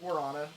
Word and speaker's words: guarana: It turns out it's because of gorana. People can't pronounce that word but gorana is a Brazilian fruit.